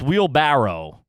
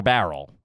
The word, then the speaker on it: wheelbarrow: aprons $10 homie um how do you pronounce wheelbarrow wheel barrow or Barrel it's barrel for me I think we've touched